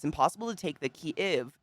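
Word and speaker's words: Kyiv: Instead of Kiev. Kiev is Russia. Kiev. So it's like Kiev. The last part of give. Kiev. But like together.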